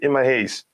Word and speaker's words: Emma Hayes: Emma Hayes, did I pronounce her name right? Emma Hayes.